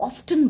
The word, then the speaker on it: often: मेरी एक मैम थी, वो कभी भी ऑफन नहीं बोलती थी, वो ऑफ्टन बोलती थी.